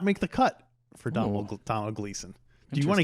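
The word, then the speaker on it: Domhnall: many people reminded us you don't pronounce the m and donald gleason that's a promise i think it's just like donald um but um i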